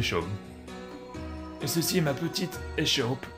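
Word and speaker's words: Seam: à propos de toi mon nom et chaumes prononcé choc et ceci ma petite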